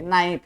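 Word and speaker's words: knife: है ना वहां पर के का उच्चारण नहीं होता है ना उसी प्रकार नॉलेज है नाइफ है तो उस प्रकार वो इंग्लिश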